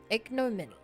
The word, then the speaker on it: ignominy: Ignominy. Ignominy means a deep public shame, disgrace, and humiliation.